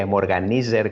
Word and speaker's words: Emorganizer: Que así en latino se pronunciaría Emorganizer con Z.